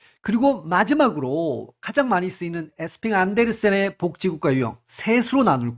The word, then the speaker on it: 에스핑 안데르센: 제가 말씀드렸지만 요걸 이제 읽기에 따라서 에스핑 앤더슨이라고 읽어도 됩니다. 우리는이 많은 유형들을 한번 훑어 볼 거고요. 그리고 마지막으로 가장 많이 쓰이는 에스핑 안데르센의 복지 국가 유형 셋으로 나눌 거예요.